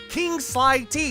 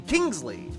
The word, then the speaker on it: King Sly T: I heard him say his name, King Sly T. It's like, I think what the funny thing about that is, like, people call his name Kingsley or Kingsley T or Kingsley T, but not Phil.